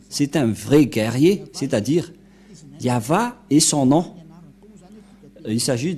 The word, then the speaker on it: Yahvah: pas y voir je vais traduire en français yava est un veillant guerrier c'est un vrai guerrier c'est-à-dire yava et son nom il s'agit donc de des